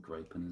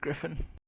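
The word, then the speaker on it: Gryphon: Was it Griffin? Is that how you say it? It's not Gripin, is it? Griffin. Like Griffin. There you go.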